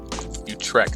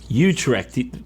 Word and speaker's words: Utrecht: how to pronounce utrecht okay you track you drift you trek wait like they can't be right oh we're on the american pronunciation let's look for the dutch the british pronunciation utrecht i feel so cultured